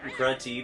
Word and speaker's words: Grunty: Basically, the narrative here is that Grunty, the witch, which rhymes with Fronty, wants to be beautiful.